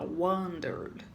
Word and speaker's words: wondered: Na hora de pronunciar, a gente não pronuncia o e, lembra? Fica bem bonitinho a gente falar wondered.